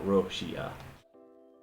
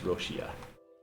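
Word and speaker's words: ロシア: is Russia so but it's being turned into Katakana so it's like she uh so it's like roshia how that would pronounce it in Japanese roshia and then uh let's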